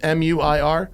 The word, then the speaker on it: Muir: think was his name, Muir, like Muir Woods. It's in. Oh, yeah. Is it Muir? Is that pronounced M-U-I-R?